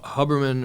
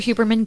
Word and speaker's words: Huberman: focus it is real hubberman or who you remember however you pronounce it miami-dade education um andrew hubermann get it right get it right neither